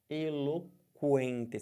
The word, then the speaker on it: eloquente: Porque você fala o U. Eloquente. Você não fala eloquente. Você fala eloquente. Então tem QU, porém você não vai ter esse QU como dígrafo. Por quê? Porque você pronuncia os dois.